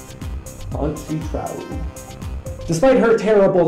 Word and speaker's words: Antje Traue: Even more difficult to pronounce is the name of the actress who actually plays Faora. And her name is Antje Traue. Antje Traue.